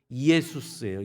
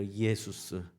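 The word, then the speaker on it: Ἰησοῦς: 또 한국어서 하긴 했지만 어쨌든 저희가 뭐라고 원래 발음은 뭐냐면 이에수스예요 이에수스 이제 헬라어 발음을 그러면 이게 헬라어라는 또 아니에요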